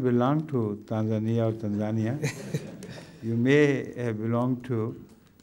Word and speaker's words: Tanzania: Tanzania some say Tanzania which is the correct pronunciation it is Tanzania Tanzania yes not Tanzania I think I